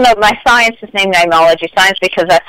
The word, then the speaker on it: Neimology: Instead, I used the Latin spelling N-E-I-M, ology, even though I still pronounce it Neimology.